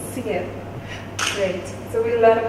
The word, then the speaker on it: Syed: SYED, if I'm pronouncing it right. The French pronunciation is the SYED. SYED.